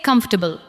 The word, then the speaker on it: comfortable: Now say comfortable. Comfortable. Do not give every syllable the same weight. Let the first part carry the stress.